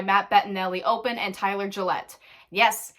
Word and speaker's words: Gillett: is directed by Matt Bettinelli Open and Tyler Gillette. Yes, it's pronounced Gillette.